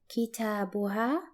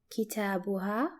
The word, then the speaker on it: كتابها: For example, her book is pronounced as kitabuha, kitabuha.